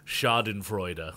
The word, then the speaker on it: Schadenfreude: Yeah, and that's actually the actual, if I get close to the pronunciation, it's Schadenfreude, and that's when you take joy in the misery of others, or the misfortune of others, yeah.